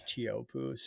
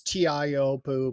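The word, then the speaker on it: Teahupo'o: off the end of the road yeah it's chopo and I don't even say it right tiio poo but but hey it's a pretty cool place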